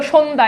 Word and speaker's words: সন্ধ্যা: আছে কিন্তু দেখো তো সন্ধ্যা এখানে কি জফালা আছে নাই তার মানে যুক্ত ব্যঞ্জনের সাথে জফালা যুক্ত হলে ওই জফলার উচ্চারণ থাকে না ঠিক আছে এরপর খেয়াল